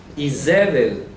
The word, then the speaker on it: Izebel: Pero tengo algunas cosas contra ti, porque permites que aquella mujer Izebel, como se dice en hebreo, Izebel, imagínense, Izebel en hebreo se escribe así, y literalmente su nombre en hebreo, si se puede decir, ¿no?